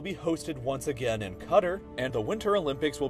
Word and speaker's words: Qatar: that's getting interesting though there's something about calling it cutter that just never sounds right to me I pronounced that country Qatar and I know British people might say the same thing just minus that final R sound but I think that